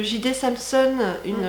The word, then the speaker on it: J.D. Samson: D'ailleurs, si le cœur vous en dit, il y a le reportage de J.D. Samson, ça se prononce comme ça, une des meufs qui était